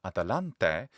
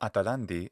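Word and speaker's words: Ἀταλάντη: actually a heroine, and her name was Atalanta in Latin, or Atalante in the classical Attic pronunciation, Atalandi in the modern Greek pronunciation.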